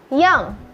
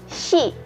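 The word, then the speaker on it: 四: 4, yong. Yong. Atau bisa juga kita sebut shi.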